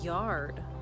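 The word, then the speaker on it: jörð: week i learned that my icelandic ancestors called yard but it's spelt get this j-o-r-d how cool is that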